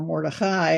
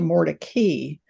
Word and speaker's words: Mordecai: they tell me that the pronunciation of the name was changed so that it would sound less Jewish. In other words, from Mordecai, or Mordechai, as we might say it, to Mordecai. Well, that doesn't fool me.